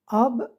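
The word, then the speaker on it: آب: un accent circonflexe a par exemple si après la lettre A on met la lettre B ça nous donne AB ob ça veut dire l'eau de l'eau alors le chapeau sur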